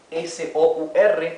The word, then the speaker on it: sour: Fíjense que en inglés cuando tenemos una combinación de la vocal O con la vocal U, el sonido que adquiere es au, au. Por lo tanto, esta palabra S-O-U-R o S-O-U-R se pronuncia sour, sour.